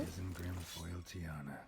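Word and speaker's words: Isengrim Faoiltiarna: Isengrim Foully Tiarna. Isengrim Foil Tiana.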